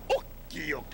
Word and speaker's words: Okiok: Okiok. The accent is on the ok.